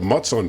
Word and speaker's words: Mutsun: He is from the Mutsun Tribe, if I said that right.